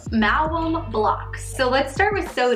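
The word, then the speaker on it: Maoam: Mallow. I say mallow. That's how I would pronounce it. Mallow. Mallow. Mallow. Mallow. Right? It's M-A-O-A-M. Malum blocks.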